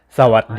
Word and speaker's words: สวัสดี: So you can see I'm spelling it W-A-T-D-E-E. So when you say it, you kind of imagine there's a T there, but you don't have to say so what, so what, so what.